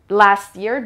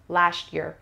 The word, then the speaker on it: last year: راجع به پرونانسیشن هم بگم بچه، معمولا وقتی معمولا تو امریکن انگلیش تی به وای میچسبه، اکثر اوقات یه صدای ش میشنویم. Last year درسته، ولی خوشگلترش میشه last year.